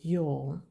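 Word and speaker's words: ё: It is pronounced like the Y in yogurt.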